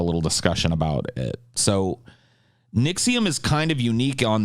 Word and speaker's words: NXIVM: you guys heard of nexium sorry i said that wrong nixium nixium is spelled nxivm by the way um and